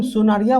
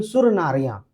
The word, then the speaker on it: सुनरिया: ठीक है, अब देखिए हम सुनरिया बोल रहे हैं, अब ये कंठ से उच्चारण के लिए अलग अलग है। कुछ लोग इसे बोलेंगे सुर नारिया, लेकिन हम सुनरिया कहते हैं।